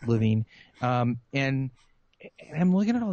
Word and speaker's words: Lewin: Levine by the way people say his name is Lewin actually look at the pronunciation it's living and I'm looking at